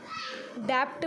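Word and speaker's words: debt: डेप्ट में T silent है, डेप होता है, मतलब क्षण।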